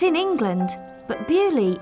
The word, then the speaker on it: Beaulieu: and today i'm in bewley bewley is a small village it's in england but bewley is a french word in english we say bully but in french it's beau liu beautiful place and it really is